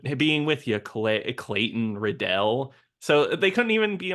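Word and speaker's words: Riddell: also I gotta say his name is uh Clayton redell but but John cusak pronounces his own name at one point as riddle and then Samuel Jackson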